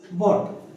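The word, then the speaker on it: bought: ये you silent या you silent. By की सेकंड फॉर्म क्या होती है? बॉट।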